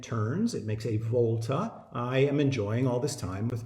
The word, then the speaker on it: iamb: Shakespeare's poetic writing and I am is two syllables the first is unstressed the second is stressed so goes dee dum